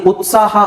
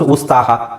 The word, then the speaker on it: ಉತ್ಸಾಹ: ಏನು ಹೇಳಕೆ ಬಂದೆ ಅಂದ್ರೆ ಈಗ ಈ ಉತ್ಸಾಹ ಅನ್ನೋದನ್ನ ನಾನು ಕರೆಕ್ಟಾಗಿ ಉಚ್ಚಾರಣೆ ಮಾಡ್ತಿದ್ದೀನಿ ನಾವು ಕನ್ನಡ ನಮಗೆ ಬರುತ್ತೆ ನಾವು ಉಚ್ಚಾರಣೆ ಮಾಡ್ತೀವಿ ಬಟ್ ಇದೇ ಪದನ ನೀವು ಬೇರೆಯವರಿಗೆ ಹೇಳಿಕೊಡೋದಾದ್ರೆ ಬೇರೆಯವರಿಗೆ ಇದೇ ಪದನ್ನ ನೀವು ಹೇಳಿಕೊಡೋದಾದ್ರೆ ಅವರು ಇಷ್ಟು ಈಸಿಯಾಗಿ ಹೇಳಕ ಬಿಕಾಸ್ ಅವರಿಗೆ ಹೊಸ ಪದ ಇದು ಅವರ ಏನು ಹೇಳ್ತಾರೆ ಫಸ್ಟ್ ಉಸ್ತಾಹ ಈಗಲೂ ಕನ್ನಡದಲ್ಲೇ ಉಸ್ತಾಹ ಅಂತ ಹೇಳೋರು ತುಂಬಾ ಜನ